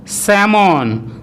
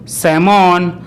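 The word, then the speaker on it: salmon: এর মাঝখানে থাকে অথবা কোনো ওয়ার্ডে এ এল এম একসাথে থাকলে তখন কিন্তু ওই এল লেটারটির উচ্চারণ সাইলেন্ট হয়। যেমন কাম, কাম, পাম, পাম, সাম, সাম, স্যামন, স্যামন, আমন্ড, আমন্ড ইত্যাদি।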